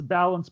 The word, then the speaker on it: Balanz: launched a film production company how do you pronounce it um its balance production spelled ba la and but let's say